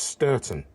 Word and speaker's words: Stourton: on the pr3 and he said it's pronounced sturton but the next stop announcements on the pr3 said ston when I got back to the site later on in the day I went to the office and I asked they said streten which just seemed wrong